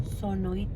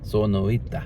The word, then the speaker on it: Sonoita: Sonoita. Sonoita.